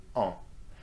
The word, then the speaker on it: ans: your age followed by en. And don't pronounce the S of this word, okay? Just en, that's the nasal sound.